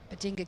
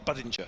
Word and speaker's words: Budinger: It's it's like hinge apparently. So, it's bada. Badinja. Badinja.